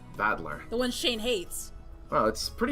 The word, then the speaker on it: Battler: Is made up of the characters for fight and person, and it's pronounced battler.